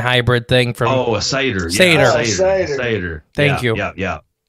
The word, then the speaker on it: satyr: Like a suitor, too. Like, what? How do you say that? A suitor? I can't ever remember it. The goat man hybrid thing from. Oh, a satyr.